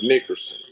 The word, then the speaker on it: Nickerson: But my last name is Nickerson. Nickerson. Uh, you got to excuse me. I'm I'm not good in pronouncing names.